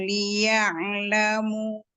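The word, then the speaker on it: ليعلموا: Nah, waktu pas masuk ain sukun, hati-hati. Kan liya'lamu, jangan sampai Nah, kita udah berhenti keluar lagi. Liya'lamu, ada e-nya.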